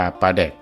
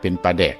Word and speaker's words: ปลาแดก: ที่ แรก แต่ ว่า ชาว อีสาน หลาย พื้น ที่ ออก เสียง โต อักษร รอ ล กับ อักษร ด กลับ กัน จัง เฮ็ด ให้ ปลา แลก กลาย เป็น ปลา แดก ใน ที่ สุด คำ ว่า แดก ใน